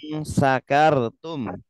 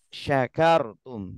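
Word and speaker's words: شكرتم: Coba kalau kita ngaji di depan ustadz ya, kita bacanya lain sakartum, ya. Itu disalahkan nanti. Sakartum, yang benar syakartum.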